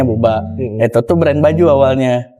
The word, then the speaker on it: Booba: Oh, Buba ya? Bukan Ya. Boba ya? Buba. Buba, kita bacanya Buba.